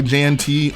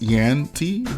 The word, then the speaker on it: JanT: Well, anyways, this MOC was built by JanT, or I think someone corrected me and said it's actually pronounced YanT.